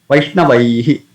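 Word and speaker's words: वैष्णवैः: So, we have to pronounce high with a dropping effect. But naturally, the sound will come as he. He sound will come. Vaishnavaihi. Though ideally it has to be pronounced high. But because we had to use dropping effect here, so the sound will come out as a he sound.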